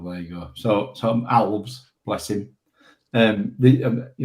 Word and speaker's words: Alves: on uh Instagram where they asked him how to pronounce the name pronounced it ALS. Oh there you go. So so Alves bless him.